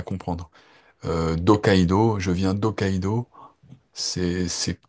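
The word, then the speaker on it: Hokkaido: quand j'enseignais en fait je disais effectivement rokaido en en aspirant le H et je disais donc de Rokaido. Et alors si on est puriste français on dit non on prononce pas le H et on fait des apostrophes.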